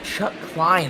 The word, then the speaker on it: Chuck Klein: Chuck Klein, I believe, is how you're going to pronounce that. Yes, Chuck Klein.